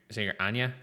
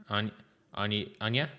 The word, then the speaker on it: Onyiah: it's pronounced like the Irish singer Onyiah. Onyiah.